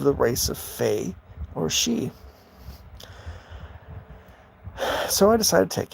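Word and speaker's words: sidhe: of them including the she and that's s-i-d-h-e but it's pronounced she and those are the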